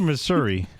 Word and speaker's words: Missouri: is it Missour or Missouri it's Missouri oh okay there is no a in the word Missouri but a lot of the residents pronounce it Missoura well we need teach